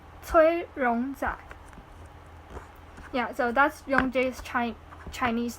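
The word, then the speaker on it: 崔荣宰: His Chinese name is Cui Rongzai. Yeah, it's really similar. It's Cui Rongzai.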